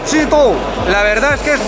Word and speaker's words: Zhidou: La marca se llama ZED o ZD, no sabemos muy bien, y en chino se dice Chito.